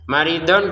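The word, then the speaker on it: مريضا: Maridon kita baca marido. Jadi donnya ini dua harakat ya panjangnya karena kita berhenti.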